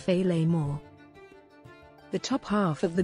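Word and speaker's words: féileadh mòr: great kilt or filomister in scottish gaelic pronounced feyley moore the top half of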